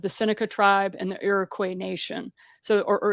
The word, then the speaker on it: Iroquois: a part of the Seneca tribe and the Iroquois nation. So, or Iroquois. This is where pronunciation is ticklish for me because I've learned English so many different ways.